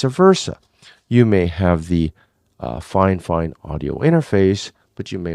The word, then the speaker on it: Fifine: And it is pronounced Fifine, just so that you know.